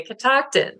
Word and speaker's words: Catoctin: You say Catoctin.